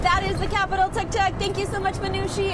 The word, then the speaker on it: tuk tuk: So, as uh as Deena was saying, it's spelled T U K T U K, but it's pronounced like you took a ride on the Tuk Tuk.